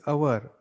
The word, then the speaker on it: hour: Though this noun our is starting with H, that is one consonant, it is that H is silent here and this O is open for pronunciation, or our pronunciation starts with O and it is pronounced like our, right?